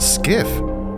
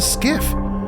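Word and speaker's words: SCIF: be presented in a skiff. But what the hell is a skiff? All I know is it rhymes with Jif and I love peanut butter.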